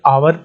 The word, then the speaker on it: hour: अगले दोस्तों, ही इज are late, इस जो HOUR इसमें H साइलेंट रहता है, आप इसे आवर पढ़ते हैं तो आ जो है